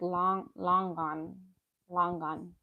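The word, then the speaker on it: Longan: It's spelled kind of like Logan, but it's like long gone, something like that.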